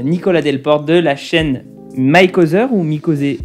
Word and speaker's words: Mikozer: Il y a Nicolas Delporte de la chaîne Mykozer ou Mikozer, à chaque fois je sais pas comment prononcer. C'est selon l'esprit de chacun prononce comme il veut. Moi c'est Mikozer, je la prononce à la française, donc chacun comme il veut.